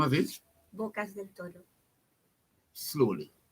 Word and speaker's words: Bocas del Toro: Bocas del Toro. Slowly. Bocas del Toro. Oh, you spell that.